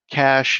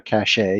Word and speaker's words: cache: of all i'll say cash in in this instance is spelled c-a-c-h-e okay so it's that kind of of cash some people call it a cachet you'll hear that i guess for the french but it it's you